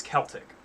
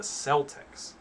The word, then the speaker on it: Celtic: celtic two the second celtic by the white star line and one of the stewards wrote in his diary that um they pronounce it celtic with the soft c because most of their